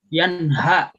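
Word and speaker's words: ينهى: Kemudian di bacaan yanha, nah itu pakai ha gede, bukan ha. Yanha ya.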